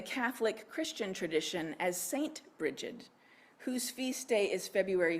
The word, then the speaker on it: Brigid: strongly associated with the goddess Brigid also sometimes pronounced breed and bride the goddess Brigid the